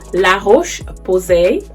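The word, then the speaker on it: La Roche-Posay: so now you guys la roche posay that's the french accent because i do speak french that's how you say it um it's been so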